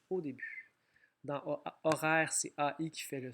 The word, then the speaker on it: horaire: Horaire, on a un O fatigué. Le mot commence par un H muet.